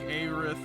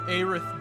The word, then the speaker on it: Aerith: Aerith. I think it's you're putting a lot of emphasis on the A. I think it's just Aerith. It's Aerith. I don't fucking care.